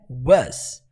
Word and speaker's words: was: Erro mais comum, pronunciar essa palavra was. A pronúncia não é was, nunca foi was. A pronúncia é was, was, ok?